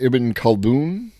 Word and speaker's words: Ibn Khaldun: And I believe it's pronounced Ibn Khaldun.